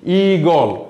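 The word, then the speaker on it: ঈগল: দেখো, ইলিশ হ্রস্বই দিয়ে আমরা লিখছি আর ইগল দীর্ঘই দিয়ে লিখছি। আমরা ইলিশ ইগল দীর্ঘই উচ্চারণ করছি না, ঠিক আছে?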